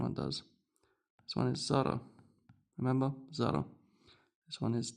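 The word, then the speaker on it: ص: The name of the letter is sad. Sad, but with a thick a very thick s.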